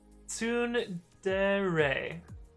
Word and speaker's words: tsundere: Kenbiko says it's pronounced and then the Japanese character. Yeah, definitely not going to get that. Fishbox says tsundere.